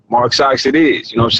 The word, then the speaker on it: MRK SX: Like, all right, Mark Socks it is. You know what I'm saying? And I shortened it, took the A out, just said MRK. Yeah. And you can pronounce it phonetically.